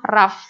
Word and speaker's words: rough: Tulisannya rogue, tapi dibacanya rough.